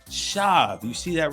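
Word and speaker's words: שָׁוְא: is connecting to the Hebrew word shab it's pronounced shav you see that right here and I know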